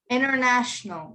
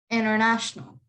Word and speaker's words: international: so yeah international yes international the t is not pronounced so you just pretend it you just say n-e-r inner national international so like you could